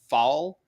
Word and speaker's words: fal: really quick one uh I think it's pronounced fall f. AI I don't think it's FAL because it's lowercase but I always get these